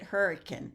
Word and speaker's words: Hurricane: have you here um are you anywhere near Hurricane West Virginia because one of my dear friends is uh hometown is Hurricane West Virginia so uh it's spelled like hurricane but they pronounce it hurricane so anyway here is one of the cards